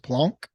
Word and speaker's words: Planck: Plum plunk energy it's spelled plank but it's pronounced Planck and uh if you can harness this energy